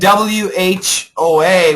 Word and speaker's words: whoa: And wh o a we say wo wo wo wo wo wo.